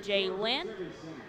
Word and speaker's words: Jalen: with him today that it is pronounced Jalen, which I think makes a lot more sense to all of us anyways.